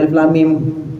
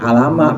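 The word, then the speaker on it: الم: Alif lam mim itu bacanya alif lam mim. Jangan alama per alama.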